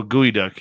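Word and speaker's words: geoduck: what did I pronounce properly what did I pronounce proun properly oh gooey duck yeah okay Moody Mongol says it's Now official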